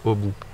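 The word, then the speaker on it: Aby: Ça s'écrit A-B-Y. Je crois que chez eux, ils prononcent au bout.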